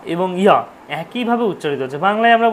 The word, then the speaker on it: যা: পুজো করছেন, যখন মন্ত্র পড়ছেন যা দেবী সর্বভূতেষু, যা দেবী, যা দেবী বলে কিছু হয় না, যা হচ্ছে ওটা হচ্ছে অন্তইয়া, তাহলে ওটা উচ্চারণ হচ্ছে ইয়া দেবী।